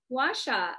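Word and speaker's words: gua sha: about the okay you told me how to pronounce it guasha washa are you not familiar with washa i have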